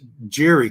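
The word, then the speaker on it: Gerry: The writer on the inside is, I don't know, Gary Conway, or yeah, it's Jerry Conway. It's spelled with a G.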